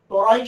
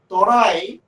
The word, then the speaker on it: তরাই: ইংরেজিতে যাকে বলা হয় টারাই বা টেরাই উচ্চারণ করেন। ইংরেজরা তরাই উচ্চারণ করতে পারেন না, তারা তেরাই উচ্চারণ করেন।